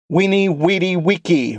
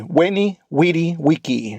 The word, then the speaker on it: veni, vidi, vici: Veni, vidi, vici. I pronounced it a little bit wrong on the first. It's veni, vidi, vici. That is the classical. The ecclesiastical is veni, vidi, vici. 2 different forms.